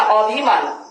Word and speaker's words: অভিমান: আমরা কিন্তু কেউ বলি না অভিমান, উচ্চারণ করে থাকি কি? অভিমান।